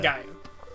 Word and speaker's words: Gaia: Gaia. Is it Gaia? It's Gaia. Right. What on Gaia? There's like six ways to write it, but you pronounce that Gaia.